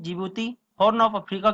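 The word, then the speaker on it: Djibouti: और बात करें जिबूती की, जी ये जिबूती है, इसमें डी साइलेंट होता है।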